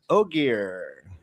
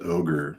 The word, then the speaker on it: Ogier: Marty Beck says Rain mentions Ogier. Any thoughts on that? So that's really cool. And thank you for pronouncing that. I thought it was just ogre, but I wasn't sure.